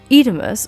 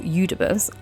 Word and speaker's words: Eudemus: Edemus, or Eudemus, I've heard it pronounced both ways, describes a